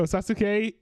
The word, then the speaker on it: Sasuke: Sasuke. Oh, Sasuke.